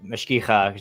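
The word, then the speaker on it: mashgicha: something like, hey, like mashkicha, since we brought it up already, the guardian of kosher laws. Mashkicha is how you say it in the feminine. Mashkiach is the masculine.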